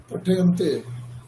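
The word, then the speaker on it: पठ्यन्ते: পঠয়ন্তে পঠয়ন্তে নয়, উচ্চারণটা পঠ্যন্তে পঠ্যন্তে, কারণ আমরা এখানে ক্রিয়াপদ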